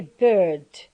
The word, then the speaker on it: bird: american english okay so in british english we say bird bird so you have to notice here that the raw the consonant in i mean british english is not pronounced so this is a